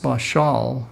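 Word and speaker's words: בָּשַׁל: e is Strong's 1310 is BA SH al pronounced bishal in Hebrew which means to boil or to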